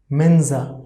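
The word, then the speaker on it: Mensa: coming here as well pronunciation of this word will be menza so pronunciation of s will be z we can write like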